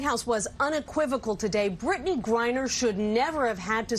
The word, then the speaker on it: Griner: Brittney Griner. Right. Like grinder, but Griner.